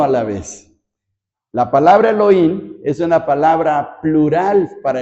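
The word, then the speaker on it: אֱלֹהִים: hebreas que se pronuncia Elohim algunos ponen como una J la H Elohim nosotros pronunciamos como en español Elohim nombre de Dios en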